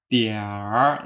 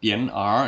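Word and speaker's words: 一点儿: Ini adalah tian ditambah er, bacanya diar, jadi bukan tian er ya.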